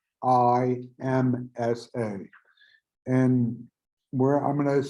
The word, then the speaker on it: Ahimsa: So, and this concept is the principle of Ahimsa, and that's spelled Ahimsa.